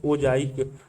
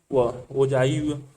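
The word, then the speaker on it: ओजाइव: संचयी आवृत्ति द्वारा प्राप्त किए गए वक्र को ओजाइक कहते हैं, जिसका उच्चारण ओजाई है।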